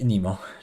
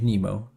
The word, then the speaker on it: Nemo: I think Nemo. Because that's how you pronounce it in Latin. Nemo.